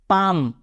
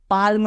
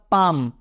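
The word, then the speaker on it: palm: है एल तो एल पढ़ना नहीं है तो क्या बनेगा पाम पाल्म नहीं होता वो क्या होता है पाम उसी तरह एफ के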